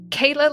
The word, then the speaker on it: Kaila: story uh for sure well my name is Kayla and that's spelled k AI L A which is very